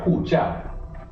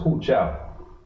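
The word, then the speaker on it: 护照: Hu jiao. Fourth tone on both words. Hu jiao.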